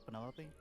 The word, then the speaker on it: Penelope: Is that short for Penelope? Officially, yes, but I never can be bothered with all 4 syllables of it.